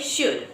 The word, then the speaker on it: should: We don't pronounce that L. We just say should, alright?